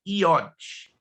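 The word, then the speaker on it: יוד: a pronúncia correta é IOT ainda que se inscreva já mas o J quando transliterado tem som de i por isso que as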